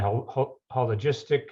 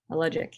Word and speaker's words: Hologic: You were a lab assistant, and then you went into research assistant, hologistic. How do you pronounce that? Hologic, yeah. Hologic. Mm-hmm. Yeah, no S in there. Hologic.